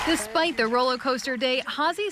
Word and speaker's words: Hazy: He wrote Hazy like Fozzie. Like Fozzie Bear. With her episode airing tonight, Hazy has something extra to be thankful for.